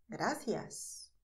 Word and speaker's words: gracias: espanhol de Madrid portanto eu vou pronunciar Gracias Mas esse som desses que é o som da língua entre os dentes esse é o som típico de espanhol da Espanha em geral porque é na América